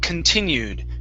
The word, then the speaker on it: continued: here at the word continued okay so our stress is on the ti so we want to pronounce the c-o-n at the beginning as kun continued continues there you